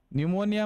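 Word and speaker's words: pneumonia: न्यूमोनिया में पी क्या होता है? साइलेंट रहता है, तो इसको लिखते हैं पी न्यूमोनिया।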